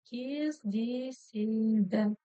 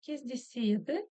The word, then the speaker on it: кездеседі: В казахском языке вы можете услышать кездеседі, кездеседі, кездесед. Вот так. в зависимости от того, где, кто, как произносит. Давайте просто научимся это читать. Кез, кезде, кездесе, кездеседа. Смотрите, ударение, конечно же, должно было бы стоять на палочке с точкой, но так как палочка с точкой у нас звучит очень коротко, да, лишь намек на буковку, то ударение переходит вот сюда, на звук, на букву Е в слоге Се.